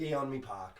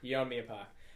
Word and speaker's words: Yeonmi Park: How do we pronounce it? Yeonmi Park. Yeonmi Park.